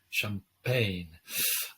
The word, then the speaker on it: Champaign: university of illinois urbana champaign uh if i hope i'm pronouncing that correctly uh champagne yeah i think you've got that yeah that's different spelling though oh okay it's the